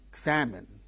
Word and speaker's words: examine: Examine, examine, examine. There are three syllables in the word. The second syllable gains stress.